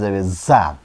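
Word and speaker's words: ز: এ যা অক্ষরটা এইযে আমরা যে জ বলি বাংলাতে জই এই অক্ষরের উচ্চারণ হবে এটা জ একটু শীষ দিয়ে বলতে হবে। যেমন চরই পাখির যেমন শব্দ হয় চরই পাখি যেমন শব্দ করে ওরকম একটু শব্দ আসবে অথবা সাইকেলের হাওয়া চলে যাইলে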